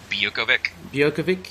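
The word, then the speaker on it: Biuković: how do you pronounce his name? Bukovic? Bukovic, yep.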